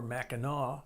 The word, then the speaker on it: Mackinac: one the mighty Mac Mac an AK or Mackinac Bridge however you choose to pronounce it Michigan the Great Lakes